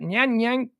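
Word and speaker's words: Nanyang: in people who develop psychopathic personality researchers at nyan yang technical institute in singapore used mri scans to sh that's i think i pronounced that right it's uh n-a-n-y-a-n-g technical institute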